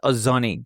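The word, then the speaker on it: お雑煮: How do I pronounce this? Ozonei.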